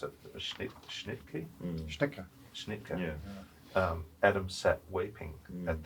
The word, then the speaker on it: Schnittke: And it struck me with the I don't know how to pronounce it, Schnittke? Schnittke.